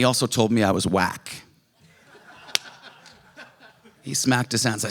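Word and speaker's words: uak: And he also told me I was whack.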